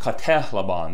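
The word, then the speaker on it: κατέλαβον: Katelabon should be pronounced katelabon. The epsilon, as you see here, sounds like the short E in bet, eh.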